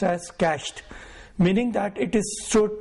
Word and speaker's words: cached: a web page it gets cached it is pronounced as cached meaning that it is stored temporarily into the